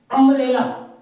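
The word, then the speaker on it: umbrella: एन आउल दूसरे में that is अंब्रेला यू यू शब्द यू है लेकिन ये आ की आवाज दे रहा है आ की तो आ आ की आवाज दे रहा है इसलिए हम य क्या लेके आएंगे ए लेके आे अगला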